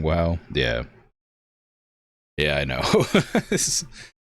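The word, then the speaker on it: WAU: But, but it's pronounced WOW, so hard to, you know, not sound silly.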